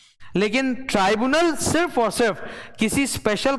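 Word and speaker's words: tribunal: ठीक है, इसका प्रोनाउंसिएशन ना तुम लोग कहीं लिख लो ऐसे। ट्राइब्यूनल, क्योंकि अक्सर क्या होता है वो भूल भूल निकल जाता है, ट्रिब्यूनल ट्रिब्यूनल ट्रिब्यूनल, तो वो गलत है। It's pronounced as ट्राइब्यूनल। ठीक है, नाउ अंदर मैंने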